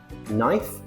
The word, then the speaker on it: knife: So we have knee knife.